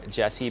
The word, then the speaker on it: GESI: g sport cats and and by the way jessie is spelled g-e-s-i so these cats are